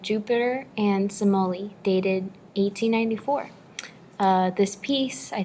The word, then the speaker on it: Semele: I thought it was pronounced Semele. No, it's pronounced Semele, right? Absolutely.